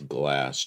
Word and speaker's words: Glas: But it doesn't say blast. It says glass. Glass S. It's pronounced glass.